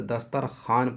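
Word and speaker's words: دسترخوان: तो यह वाव जो है साइलेंट है जिसे कहते हैं। तो लिखा तो जाता है लेकिन पढ़ा नहीं जाता है।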